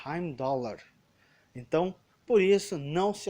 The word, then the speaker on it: Heimdallr: Então, por exemplo, Heimdall, que é interpretado pelo Idris Elba, é na verdade Heimdallr.